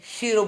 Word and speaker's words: Cheiro: तो यानी कीरो की पद्धति का नाम है, कुछ लोग कीरो बोलते हैं, शीरो बोलते हैं। उच्चारण का अंतर समझिए। पाश्चात्य का नाम होने के कारण उच्चारण के दोष हो सकते हैं। कहिए आप कीरो या शीरो, कोई भी हो।